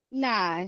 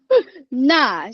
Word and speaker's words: 那: 那是谁? No, Is that not correct? fourth tone enough. 那是谁? Oh, okay. 那是谁? Oh, both are fourth tone.